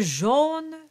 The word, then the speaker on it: jaune: Deux jaunes, l'autre en papier gris. Now the jaune is a closed O. And the, as opposed to loger, that was an open O. So deux jaunes, l'autre, also a closed O, en papier gris.